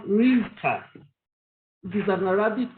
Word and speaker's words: Risikatu: But culture and custom, as usual, has changed the way the name is pronounced. I was born by Fulani Yoruba parents, and that actually affected the way it was pronounced, Risikatu.